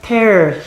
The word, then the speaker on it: tear: 이건 읽을 때 우리 tear라고 읽으면 안 되죠. tear him to pieces.